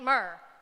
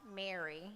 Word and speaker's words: Mer: Now, Aunt Mer, by the way, could be pronounced Aunt Mary if you chose to slow down the syllables and took yourself out of the South.